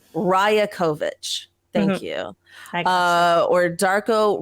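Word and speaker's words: Rajaković: coach was announced tell okay how do I pronounce his last name it's Darko ryokovic Raya kovich thank you uh or Darko riakovich was announced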